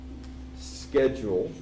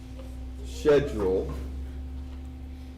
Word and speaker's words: schedule: This has several pronunciations. Schedule, schedule, schedule.